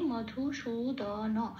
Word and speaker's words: মধুসূদন: আচ্ছা, এখানে বলে দিই দন, কোথাও কিন্তু হসন্ত নেই সেই জন্য দন কখনোই উচ্চারণ করতে পারবো না, মধুসূদন। যেহেতু হসন্ত নেই কোনো অক্ষরের নিচে, প্রত্যেকটা অক্ষর পূর্ণ অক্ষর রূপে উচ্চারিত করতে হবে, মধুসূদন এইভাবে বলতে হবে।